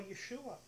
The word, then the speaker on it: Yeshua: Yeshua is basically what the Aramaic sounds like. And I believe that because the even the Jews, in the periods that the Peshitta, the those who believe that Yeshua is Messiah, the Aramaic